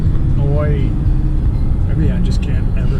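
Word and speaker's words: อ้อย: Sugar cane in Thai is oi. Oi. Maybe I just can't ever say it. I know how to spell it.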